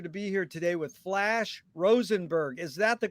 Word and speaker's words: Flash Rosenberg: and a pleasure to be here today with flash rosenberg is that the correct way to pronounce the flash yes yes that's it and